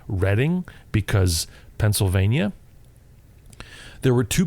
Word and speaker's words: Reading: west of here it's spelt reading but it's pronounced reading because pennsylvania there were two people running for